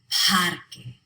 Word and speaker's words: parque: Parque. The stress is on pad.